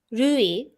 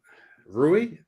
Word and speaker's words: Rui: the first time again rui rui no you're not saying rui are you saying it ruin almost like Louie except R right yeah like the